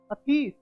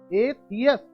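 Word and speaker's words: atheist: इसका कुछ लोग गलत उच्चारण करते हैं, वो बोलते हैं अथीस। That is wrong pronunciation, you should pronounce दिस word as एथियस।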